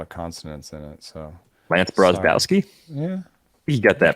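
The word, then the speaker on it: Brozdowski: So Lance Brozbowski? Yeah. You got that pronunciation right.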